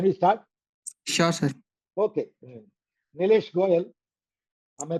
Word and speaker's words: Neelesh Goyal: Nlesh Goyel. Am I pronouncing your name correct? Nesh Goyel.